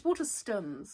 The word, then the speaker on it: Waterstones: It's Waterstones. Maidstone. Like Maidstone, yes. My mum is crying with laughter, Callie, by the way. I was saying Waterstones to the customers, and Mark was like, why